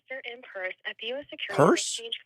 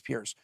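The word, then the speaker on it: Peirce: see there we go purse they pronounce it purse we've all been saying it wrong boys gave you a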